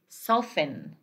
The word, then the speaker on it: soften: Like when we say this one, we say soften, soften. We don't say soften, it is soften. This one is silent, soften.